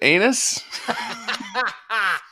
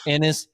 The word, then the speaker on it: Ennis: happened in in where spins how did you pronounce it last weekend oh my gosh it's um is it anus it is innis texas literally dennis anderson the guy watching in